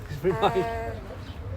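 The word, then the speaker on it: Nájera: Naha. Naha. Nava. Yes. I don't know how you pronounce a J in Spanish.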